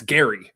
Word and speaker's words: Gerry: And if you go on Wikipedia, the pronunciation on the first line of his Wikipedia page says G as in guy. It's Gary.